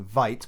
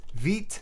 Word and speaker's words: Vite: create a Veet project I promise I will miss pronounce that all the time by saying Vite but please bear with me it's pronounced Veet npm create Veet at latest we can